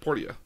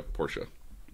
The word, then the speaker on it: Portia: Plays Little Miss and Portia. Okay. So it is the same person at the end of the day. Portia. So, Portia. Yeah, it's spelled Portia, but it's pronounced Portia.